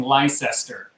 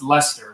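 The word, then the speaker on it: Leicester: we've all been pronouncing Lyster it's actually pronounced Lester we found this out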